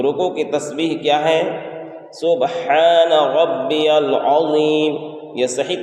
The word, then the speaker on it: سبحان ربی العظیم: سبحان ربی العظیم، یہ صحیح تلفظ ہے۔ لیکن اس میں پڑھنے میں غلطیاں کیا ہوتی ہیں؟ سبحان میں جو ہا ہے اس کو ظاہر نہیں کرتے ہیں۔ اسی طریقے سے ربی